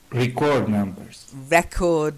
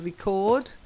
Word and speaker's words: record: out the two words record numbers rap not good yeah record to record is the verb but when you're using record or as a noun or as an adjective